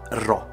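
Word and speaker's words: ρ: più attenti sapranno che quella che sembra una p in realtà Si legge ro e l'ho scoperto appunto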